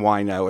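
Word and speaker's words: Wineaux: uncommons in Southwest Vegas it's a play on wio it's spelled w n e a u x it's a wine shop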